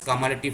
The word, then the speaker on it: cumulative: কিউমুলেটিভ frequency or sometime pronounced as কামালেটিভ frequency.